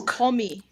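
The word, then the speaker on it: 거미: it's komi. Komi? Como? Yes, Komi? like the word gummy in English, but it's pronounced with o. So, komi.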